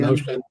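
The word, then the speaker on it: Motian: Charlie Leroy Hayden, Jenkins, Blackwell, Modion. Yeah. Modion. Motion. I'm Motion. saying Mazzy, is it Motion or Modion? It's motion. Motion.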